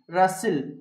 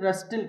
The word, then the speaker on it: rustle: HUSTLE హస్సిల్, BUSTLE బస్సిల్, CSTLE క్యాసిల్, RUSTLE రస్సిల్. అంతేగాని ఇలా చదవకూడదు, హస్టిల్, బస్టిల్, క్యాస్టిల్, రస్టిల్ కాదండి, హస్సిల్, బస్సిల్, క్యాసిల్, రస్సిల్. రూల్ ఏంటండి, whenever you find STLE or STL, the T must be silent letter, right?